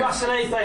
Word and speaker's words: Gwasanaethau: How do you say gwasanaethaw though? Is it gwasanaethaw? A diolch yn fawr iawn. That's not how you say it. Gwasanaethau is what you have to. Gwasanaethau. Gwasanaethau, there you go, yeah.